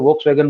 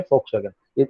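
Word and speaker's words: Volkswagen: दास actually German language में वी को एफ बोला जाता है, एफ। यहाँ पे इंडिया में भी एक कार चलती है कंपनी, हम लोग उसको वोक्सवैगन बोलते हैं, एक्चुअली इसको प्रोनाउंसिएशन जर्मनी में फोक्सवैगन, इससे जर्मन कार फोक्सवैगन।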